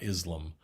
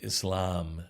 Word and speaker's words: Islam: uh hissing ass and emphasis on the second syllable not islam but islam muslim from aslama yusulimu